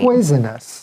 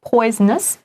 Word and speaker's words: poisonous: Poisonous. So the O in the middle, it can be voiced or voiceless. Somebody might say poisonous or somebody might say poisonous.